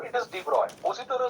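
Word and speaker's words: de Broglie: जैसे डी ब्रोगली में जी pronounce नहीं होता, इट इज डिब्रॉय, है ना? उसका नाम डिब्रॉय है, डी ब्रोगली नहीं है।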